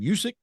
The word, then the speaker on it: Usyk: Tyson was lined up to do that fight with, how you pronounce that guy's name? Usyk?